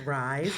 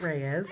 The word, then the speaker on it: Rise: So it's Rise. It's not Reyes, although that's a great conversation piece.